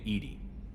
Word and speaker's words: Edie: Why are you named Edie? EDI is the phonetic pronunciation of EDI. That is an acronym for Enhanced Defense Intelligence.